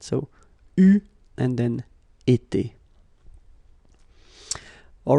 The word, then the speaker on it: eu: Okay, but you will have to pronounce it U. So remember, main difference or big difference between what you write and what you pronounce. So you write it like that, EU, but then you pronounce it U.